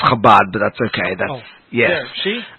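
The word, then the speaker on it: Chabad: guests Rabbi Diddy wax from the if I mispronounce it Shabbat up at Hamilton College in Clinton New York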